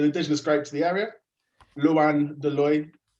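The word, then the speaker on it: Loin de l'Oeil: Luan de Loy. So like LOINDEL''OEIL. Lots of vowels. Tricky if you speak London English like me. I mean, I'm American, man. Like, come on. Like, I pronounce everything wrong over here. Like, that's loin de l'oil. Yeah, nailed it.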